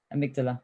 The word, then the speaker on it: amygdala: And that's to do with something with I never know how to say that, amygdala, or I don't know. How do you say it, Greg? Amygdala.